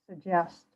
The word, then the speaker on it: suggest: them together sug just suggest suggest and where's the stress second syllable the second syllable yeah yeah first G when I say it suggest s some people do